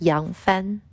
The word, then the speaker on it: Yang Fan: Hi everyone, my name is Fan Yang, and in Chinese, my name is pronounced as Yang Fan.